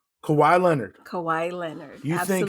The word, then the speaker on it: Kawhi: so I'm gonna come out and say it kawaii Kawhi Leonard Kawhi Leonard I think he's gonna pull